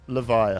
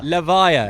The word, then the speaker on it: Levia: I should know, yeah, because my wife voiced Vincent and got told the official pronunciation, but I've forgotten it already. It's Levia. Levia, confirmed by LSS.